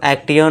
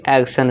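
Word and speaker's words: action: इसमें भी क्या आया है, TION, तो इसे हम एक्टियन ना पढ़ के क्या पढ़ेंगे, एक्शन, सन का साउंड देंगे, यानी कि कोई भी काम आप शुरू कर सकते हैं, स्टार्ट करो।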